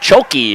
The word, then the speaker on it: Shiocton: for shy Acton but choki is what I was told that that's how you pronounce it number 72 also in